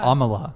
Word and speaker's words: Amala: Amala, right? Did I say it right this time? Yeah. Amala.